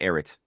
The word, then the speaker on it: Ehret: But usually I just go with Erit. Ehret. I sound like a Yes. foreigner who try to pronounce these unpronounceable Russian names, Davidov or something like that.